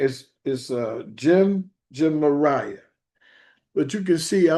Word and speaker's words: Gemariah: How do you pronounce this? His name is Jemariah.